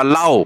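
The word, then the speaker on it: เหล้า: เล่า ประการ ที่ 1 สระ เอ หอ หีบ ลอ ลิง ไม้ โท สระ อา อ่าน ว่า เล่า แปล ว่า สุรา สุรา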